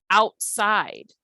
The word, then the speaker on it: outside: Outside has two long syllables. We have out. You can see my mouth opening up to make the sound long, out. And then we have side. The I sound stretches, outside. That is a two-syllable word, but both of them are stressed.